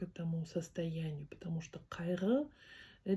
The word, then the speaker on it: қайғы: как к, не к, не х, а к кай. И вот эта с чёрточкой. Угу. Она звучит не как г, не как р. Ага. А как р р как у французов, наверное, есть такое произношение, да? У украинцев есть такое произношение, по-моему. Кайр, кайр р не р, а р р больше г р кайр переводится как горе, печаль, скорбь.